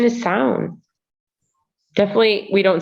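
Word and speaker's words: Samhain: apparently the original uh the original irish um pronunciation is sound definitely we don't say it in america so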